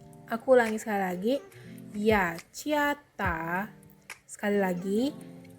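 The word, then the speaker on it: 雅加达: Jadi Jakarta dalam bahasa Mandarin adalah Ya Ciata. Aku ulangi sekali lagi. Ya Ciata. Sekali lagi. Ya Ciata.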